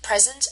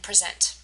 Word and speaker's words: present: So present is a noun, right? And we can tell because the stress is on the first syllable, right? The present is for her. However, if we shift the emphasis onto the second syllable, as in I presented the project, or I present tomorrow, we can tell that it's a verb.